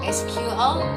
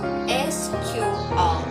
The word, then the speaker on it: SQL: SQL, pronounced as SQL or sometimes as SQL, is actually the standard language for dealing with relational database.